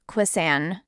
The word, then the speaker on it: croissant: Croissant, in French, croissant.